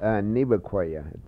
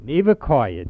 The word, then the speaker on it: Nevaquaya: Nevaquaya, just the way it's spelled. Nevaquaya, just the way it's spelled, and we spelled it earlier.